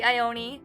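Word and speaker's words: Ione: her name correctly but it's spelled the same as the actress ioni Sky so I say ioni although I'm not quite sure if that's the way it was intended hello sweet ioni she's so cute with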